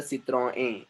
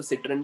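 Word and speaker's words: Citroën: सर N silent है क्या last में? हाँ वहाँ पर एन साइलेंट रहेगा वो। सो इट्स अ सिट्रोएन, सिट्रोएन, उसको सिट्रन भी बोल सकते हैं आप लोग इंग्लिश में।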